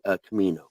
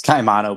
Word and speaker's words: Caimano: So with us, we have Anthony and Mandee Caimano. Did I say the last name correctly? It's Caimano, but it's close enough. Caimano.